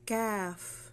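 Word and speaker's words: ك: lalamunan kof kof ko ko ko cof next kaf ito manipis lang siya normal CF sa pagbigkas nito ang posisyon ng dila ay katabi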